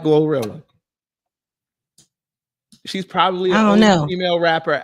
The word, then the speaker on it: GloRilla: like oh my gosh gorilla's gonna make me like her no I that's no no no no no no no you gotta say it correctly y'all not gonna make me like glorilla she's probably the female